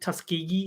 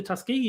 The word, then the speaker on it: Tuskegee: She was like mentioning the whole black people not getting vaccinated, and someone pointed out was it Tuskegee? Is that how you say it? Yes, the Yeah, Tuskegee yeah.